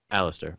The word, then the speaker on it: Alastair: uh your name is is it alistair or alister how do you pronounce it alistair okay um aleister